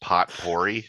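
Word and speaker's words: potpourri: um add something into the poper um it's pronounced pot pory I chose rather the silver Sur as one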